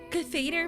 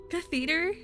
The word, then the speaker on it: catheter: Catheter catheter. Where? What? Okay. Where is the emphasis? That's it. Catheter. So, the the emphasis is on Cath and it's not like on the E.